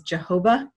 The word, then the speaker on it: Jehovah: knows how to pronounce sometimes it's pronounced as jehovah that's the pronunciation that swedenborg uses sometimes it's pronounced as